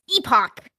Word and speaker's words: epoch: And it's not epic. It's epoch.